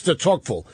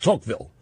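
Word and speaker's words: Tocqueville: mispronounce the last name it's Alexis to toille but if you don't say Alexis it's just toille you leave off the duh anyway tville ref referred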